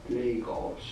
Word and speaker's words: Lagos: Lagos, you do one just stress on the first syllable.